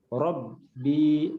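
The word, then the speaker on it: ربي: Robbi, tekan baknya, ada tanda tasdid.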